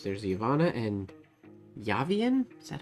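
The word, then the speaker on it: Yávien: There's Yavanna and Yavian? Is that how I pronounce that? There's an accent on the A. Y-A-V-I-E-N. Yavian? Not Yavian. Yavian. Yavian? No, there'd be two N's if it was Yavian.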